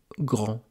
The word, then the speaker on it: grand: On peut avoir aussi un D muet, comme dans le mot grand.